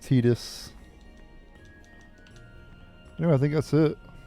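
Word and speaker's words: Tidus: We leave as soon as you I know I say Titus, but I've always called him Titus, so it's just a habit, but it's pronounced Tetus.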